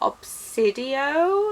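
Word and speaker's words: Obsidio: for that and I am also excited for obsidian that's how it's pronounced and which is the last book in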